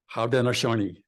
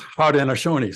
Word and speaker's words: Haudenosaunee: They called their collective assembly the Haudenosaunee. Do the best pronunciation I can. I think it's Haudenosaunee, something like that.